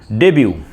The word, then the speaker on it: debut: So the 12th word is debut d e b u t here t is silent and many pronounces debut.